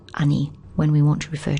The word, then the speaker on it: 兄: older brother our humble older brother and it's pronounced ani when we want to refer to someone else's